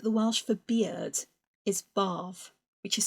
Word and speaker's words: barf: Barf as in upchuck, not barf as in what you get into to have a wash, an all-over wash or a soak and a relax.